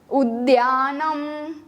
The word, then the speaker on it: उद्यानम: उद्यानम, इसको हम ध नहीं बोलेंगे, DH नहीं बोलेंगे, DYA, उद्यानम।